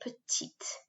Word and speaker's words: petite: girl will be grund a boy would be pretty and will be petite when it's average height